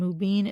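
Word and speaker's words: Mubeen: And Mubin is spelled M as in Mary, U, B as in boy, E-E-N as in Nancy.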